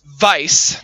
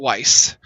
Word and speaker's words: Weiss: but it's pronounced but it's also pronounced Vice not Weiss uh Ruby is red